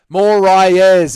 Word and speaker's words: Moraes: Moraes, as it's pronounced, you Australian scum.